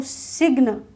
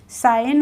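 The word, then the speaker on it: sign: नहीं बोला हमने साइन अब आपको अगर नहीं पता है ये रूल तो आप क्या पढ़ेंगे इसको सिगन सिगन तो नहीं होता है साइन होता है क्लियर है जी का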